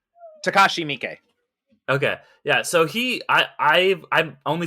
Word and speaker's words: Takashi Miike: And I just speaking of Takeshi Miike, is it Miike? I never know how to pronounce his name. Takashi Miike.